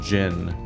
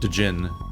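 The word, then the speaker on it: Djinn: time we ever counted the word gin or like genie spelled with a d or i was like what so i definitely played this entire game thinking the word was called dejin take out the elemental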